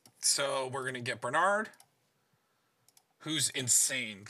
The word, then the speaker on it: Brenard: So we're going to get Brenard, who's insane. Like, he has so many combos. Oh, my caps locks up. Yeah. Just shouting it. Ah! So it's Burr. It's Brenard. God, I already lost him.